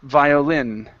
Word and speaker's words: violin: pronounced violin violin okay with the stress at the end violin violin okay good uh next